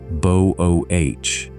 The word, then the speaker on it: Boötes: The famous one lies out past the constellation Boötes, pronounced bo-OH-teez, the herdsman.